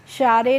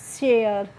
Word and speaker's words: share: SHARE, शारे नहीं, इसको पढ़ेंगे बच्चों शेयर।